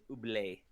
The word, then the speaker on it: Ooblets: the correct pronunciation is oublé. Oblates. um, Canadian, it's oublé. that's probably accurate.